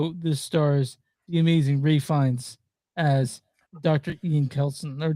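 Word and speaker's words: Ralph Fiennes: Ray Fiennes. So for Ray Fiennes, that he does this complete dance to the Number of the Beast 666 by the good old band Iron Maiden.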